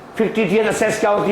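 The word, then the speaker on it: fictitious: यहां पर सी साइलेंट है, क्या बोलते हैं? फिक्टिटियस asset.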